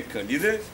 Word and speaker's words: Калиде: този древен град е акве калиде правилното ударение калиде което наистина означава горещи